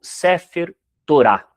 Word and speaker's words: Sefer Torá: E aqui eu trouxe para vocês a imagem do Sefer Torá ou sefer Torá, depende da da pronúncia que muda muitas vezes a sílaba tônica.